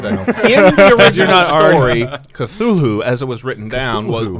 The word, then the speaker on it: Cthulhu: really apostrophes oh yeah i feel everyone though mispronounces cthulhu because they forget that last h so i just want one more time on the record that last day i think the last h is silent no i don't think so i think it wouldn't have put it in there if it was supposed to be silent you know what i've